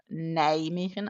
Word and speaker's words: Nijmegen: funny for you guys when I pronounce Nijmegen as in Nijmegen. I don't pronounce the N, even though it's very much there. And I would definitely pronounce the N if I were in Denmark talking to a Dane, but not with a Dutch.